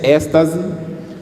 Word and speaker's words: êxtase: A palavra êxtase escreve-se com X, mas toma a pronúncia de S, êxtase.